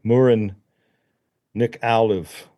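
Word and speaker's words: Muireann Nic Amhlaoibh: and and beautiful Irish uh agelic singer uh Murin Nick Olive is how you say her name, but you can't it doesn't look like that. Yeah. Yeah. You know, silent H's and B's and stuff.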